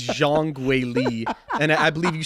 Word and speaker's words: Zhang Weili: 2018 so so please forgive him for these some of these pronunciations the uh the Cody sandhagen the um the Zhang Willy um it is Jean gwali and I believe you